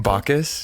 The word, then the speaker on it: Bacchus: Bacchus, yeah.